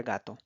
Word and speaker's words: gato: Gato, gato. En este caso, el acento prosódico se encuentra en la sílaba ga, donde no tiene ninguna tilde, pero ahí es donde el lenguaje, la persona, el hispanohablante, va a hacer la fuerza de la voz.